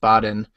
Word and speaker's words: Baden: be completely honest uh Baden b a d n pronounced Baden um we buy through